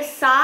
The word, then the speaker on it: सा: जो भी प्रोनाउंसिएशन है, अगर सा है तो आकार सही से लगाना है, स नहीं बोलना है, सा बोलना है, रे ग म प ध नी सा, इतना मुंह खोलना है।